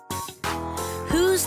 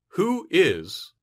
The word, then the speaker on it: who's: you pronunciation tip in natural English who is sounds like who's listen who's the young